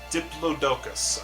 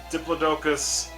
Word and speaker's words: Diplodocus: Diplodocus, I think is how you say it.